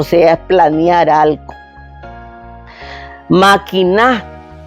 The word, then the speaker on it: maquiná: Maquiná es la primera persona del imperativo, el verbo maquinar. Maquiná bien lo que vas a decir.